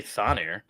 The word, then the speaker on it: Thonir: Thonir? Thonir. It'd be Thonir. Well, Thonir's better. The TH.